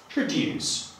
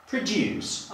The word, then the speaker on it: produce: Napiszę tutaj homograf, czyli słowo identyczne graficznie, ale jeżeli używamy tego jako czasownik, proszę zobaczyć, że wymawiamy to jako produce. Akcent pada na drugą sylabę. Jeżeli chcemy tego słowa użyć jako rzeczownik, wówczas musimy akcentować pierwszą sylabę i wymawiamy produce.